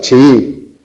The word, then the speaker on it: chií: Pero sin embargo chií sí se acentúa. ¿Por qué? Como tenemos un hiato tenemos 2 sílabas, chií. Y la tónica es la segunda sílaba. Este acento no marca un hiato. Este acento lo que marca es que la palabra es aguda y acaba en vocal.